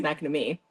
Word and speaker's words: Macnamara: We figured out how to say her last name, guys. It's Macnamara. She said that.